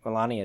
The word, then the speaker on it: Melania: yeah um and also melania if that's how you say her name melania melania that's right melania trump is tested positive